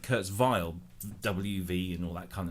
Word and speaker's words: Kurzweil: we on the group how do you pronounce Kurzweil um it seems Kurtz Weil I would have said Kurt's vile WV and all that